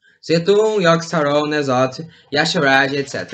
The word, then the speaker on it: Yogg-Saron: Ele era formado pelos 4 deuses antigos, Setun, Nosalt, Yashra, Iriash e Yogg-Saron também. Sim, eu pronunciei corretamente, eu sou bom na pronúncia. Setun, Yogg-Saron, Nosalt, Yashra, etc.